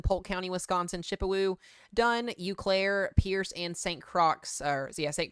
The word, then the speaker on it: Eau Claire: So we've now got 70-mile-per-hour winds headed towards Eau Claire, Wisconsin. So brand new severe thunderstorm warning, damaging winds up to 70 miles per hour. Barron County, Wisconsin, Polk County, Wisconsin, Chippewa, Dunn, Eau Claire, Pierce, and St.